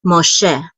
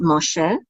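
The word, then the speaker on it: מֹשֶׁה: So this is Moshe. And we know that the accent is on the second syllable because of this trope mark right here. So this is Moshe.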